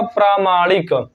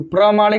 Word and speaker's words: प्रामाणिक: last word है आपका प्रामाणिक प्रामाणिक इधर लिख लीजिए तो प्रमाणिक नहीं प्रामाणिक उच्चारण सही कीजिए वर्ड वर्तनी आपका अपने